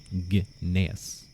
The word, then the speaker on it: Gnaeus: I say Gnaeus. I pronounce the G. So it's like Gnaeus. Like Gnoblin. Or Gnelf. Or Gnom.